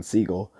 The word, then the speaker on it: Seagal: expose of steven seagal or as he calls him steven segal because he said that's really the way the name is pronounced but he started calling